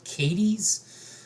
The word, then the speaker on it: Cádiz: So this was all in the city of Cádiz, or as the locals around here pronounce it, Cádiz.